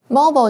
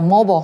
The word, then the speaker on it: mobile: Mobile 就是行动的意思或移动的，那可以当自由活动的意思，像是那个在美国有一些叫 mobile home，那么 it's usually cheaper. Yeah, and I should say mobile, mobile are both okay pronunciations. Oh, yeah. British English is mobile, that's just the difference.